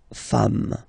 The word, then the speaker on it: femmes: at the end, and as we said, you don't pronounce it, so you get des femmes, okay?